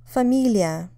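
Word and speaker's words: фамилия: these words and see if you can hear where the stress is famia it means last name obviously it's related to the word family but notice that family while it's stressed on the first syllable is stressed on the second syllable Babushka here the stress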